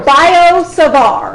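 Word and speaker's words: Biot–Savart: it's two French names so they have T's at the end but you don't say them sard law okay so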